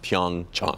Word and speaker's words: Pyeongchang: and we found out that it is correctly pronounced pyoung cha yes but the debate is still out he